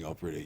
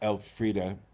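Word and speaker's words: Elfriede: grabbed by the fact that somebody was doing Alfreda Yelan here on this side of the Atlantic who is a noted Austrian writer playwright thinker essaist. She's she's brilliant. Can you say her name again? Alfreda E L F R I E D.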